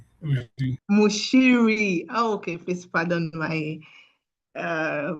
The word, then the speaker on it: Muchiri: Mushiri. Mushiri. Okay. Please pardon my uh pronunciation.